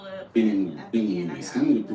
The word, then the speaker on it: Illinois: that she's not in Illinois anymore. Illinois. I'm going to pronounce it. Y'all take the S off when you want me to pronounce it.